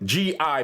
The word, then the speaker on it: gi: In 1973, those white outfits worn in karate classes, spelled G-I, pronounced gi, were being bought at triple the rate they were the year before.